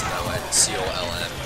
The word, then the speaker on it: Colm: Why does he have to pronounce it that way? C-O-L-M. Colm.